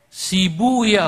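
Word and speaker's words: سيبويه: Sibuya huna, asluhu sibawai. Dalam satu lughat dibacanya sibuya untuk menyesuaikan wazan. Sebab kalau pakai sibawai huna nggak ketemu wazannya. Maka saya pakai satu lughat yang membaca sibawai dengan sibuya.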